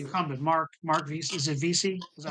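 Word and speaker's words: Veasey: Is it Vesey? Is that how you pronounce it?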